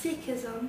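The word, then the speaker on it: Sikhism: say the word um it's seism um and a follower a follower of seism is called a seek and it's something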